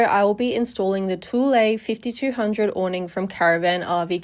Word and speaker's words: Thule: In this video, I will be installing the Tulle 5200 awning from Caravan RV Camping. Throughout the video, I do call it a Chul awning. I did mispronounce, so sorry about that.